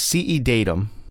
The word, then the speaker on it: CEDatum: And CED Datum, it's CED Datum, and it's spelled CEDATUM.